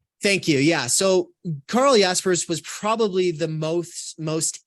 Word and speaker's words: Jaspers: stance is that we shouldn't overreact when someone mispronounces the name let's just focus on who's the man Carl Jasper's Jaspers thank you yeah so Carl yaspers was probably the most most influential existentialist in